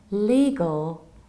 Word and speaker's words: legal: The thing is that first you have long E, li, and then very, very important thing, we need to reduce the ending.